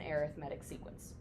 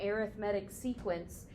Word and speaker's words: arithmetic: what's known as an arithmetic sequence arithmetic spelled the exact same way as arithmetic but pronounced differently if you call it